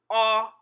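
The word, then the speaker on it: Ọ: the English alphabet Oh it is pronounced as in the letter o in the English word octopus say it with me ah ah ah ah as in the word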